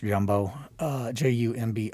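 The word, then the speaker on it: Grumbot: Um it's pronounced Jumbo.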